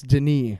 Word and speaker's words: Denis: and he's French, so it's Denis.